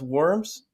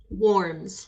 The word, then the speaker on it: Whorms: I believe is pronounced worms warms like I'm warm I'm not cold worms right she's a